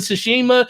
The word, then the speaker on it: Tsushima: this information and it's it's not sue like s u it's actually t-s-u okay that's why that's